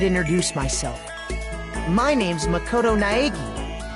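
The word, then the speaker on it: Naegi: My name's Makoto Naagi. Makoto Naigi. Naigi. Remember the pronunciation cuz I I'm going to it up.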